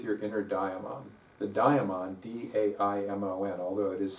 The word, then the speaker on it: daimon: The daimon, D-A-I-M-O-N, although it is spelled a little differently in different places, and it's also pronounced differently in different places. It's pronounced daemon by some people, but typically it's daimon.